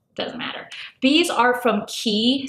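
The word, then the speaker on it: Quay: matter these are from Key sunglasses and key is spelled q a y and these are the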